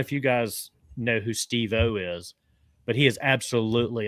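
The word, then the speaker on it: Steve-O: Well, I like the way he pronounced it. It's not Steo, it's Steve O.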